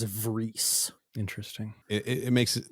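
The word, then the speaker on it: Vriess: Is it Rice or is it Vries? In the next scene, Elgin pronounces it as Vries.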